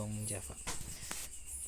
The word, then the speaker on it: Jong Java: Tulisannya Jong Java ya, bacanya Yong Java.